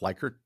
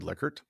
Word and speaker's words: Likert: Rensis Likert, it often gets pronounced Likert, but it's actually Likert, uh, developed the 5-value scale of strongly agree down to strongly disagree.